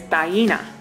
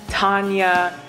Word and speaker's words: Taina: Like, the true pronunciation of it is Taina. And most people, upon first seeing it, will give me something like Tanya, Tiana, Taina, Tania, Tatiana, Tania, Taina, something along those lines.